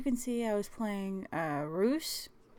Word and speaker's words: Reus: see I was playing ruse which I'm pronouncing like Zeus with an R because I don't really know how else to pronounce it but anyway I wanted